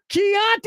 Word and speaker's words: Chianti: fava beans and what Italian wine a night Chianti I think that's how you say it Chianti is correct and for the second time in